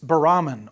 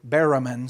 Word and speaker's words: baramin: It's baramin or baramin. Some people pronounce it baramin or baramin.